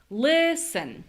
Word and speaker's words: listen: tell you guys the the rhythm here is this one. Da. Listen. So, what that means is that the second syllable of listen, we shouldn't really hear a clear vowel here.